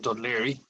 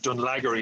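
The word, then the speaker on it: Dún Laoghaire: So I went out to meet them in Dunleary, and Dunleary, as they thought it was called because of the way it's spelled.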